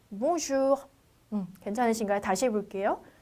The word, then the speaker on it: bonjour: 아주 끝이 살짝 흐려지지만 발음이 있긴 있어요. 그래서 bonjour.